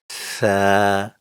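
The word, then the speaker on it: ث: When the tip of the tongue touches the inner edge of the two upper front teeth, the sounds Sa, Zal, and Gha are produced.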